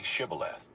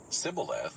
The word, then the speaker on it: Shibboleth: If he answered no, they told him, "Please say Shibboleth." If he said Sibboleth, because he could not pronounce it correctly, they seized him and executed him at the fords of the Jordan.